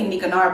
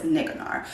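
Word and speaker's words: Nicanor: always say it wrong I always say nikonara but I'm pretty sure it's niggnore so we do celebrate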